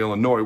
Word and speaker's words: Illinois: Okay, they had given up the second most amount of sacks in the entire Big Ten Conference, only Illinois, where the S is silent, was worse.